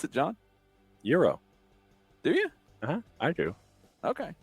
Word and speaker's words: gyro: How do you pronounce it, John? Euro. Do you? I do. Okay. It's not a gyro or nothing.